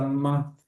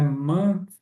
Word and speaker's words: month: Twice a month. E a pronúncia dessa palavra aqui, né? Month, não é mon, não é mau, é mon que é mês, né?